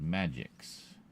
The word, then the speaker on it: Magix: Formerly by Sony, now by a company called Magix. Spelled with Magic the Gathering? Spelled with an X. Magix.